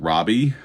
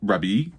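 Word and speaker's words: Rabih: I feel like every time I say his name, it sounds like I'm saying Robbie, like R O B Y. His name is not Robbie. His name is Rob Rabi.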